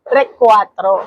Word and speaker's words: Recuatro: sa hindi ko sure kung tama ung pagk Kaka-pronounce ko pero Recwatro. Yes, Recwatro.